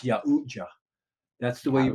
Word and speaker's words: Yautja: It's Yautja. That's the way you pronounce it. Yautja.